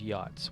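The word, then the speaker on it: Yotz: of that nature well i wanted to use yachts y-o-t-z that's how this is spelled yachts but it said it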